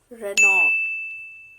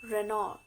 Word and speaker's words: Renault: It's Renault. Renault.